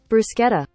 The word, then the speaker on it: bruschetta: it's not with two C's Italian hands brosketa bruschetta bruschetta all right hold on how to pronounce bruschetta bruschetta there we go I did not mean